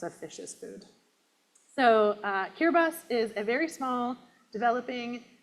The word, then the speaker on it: Kiribati: Did you think it was Kiribati? Yeah. So it's actually pronounced Kiribati.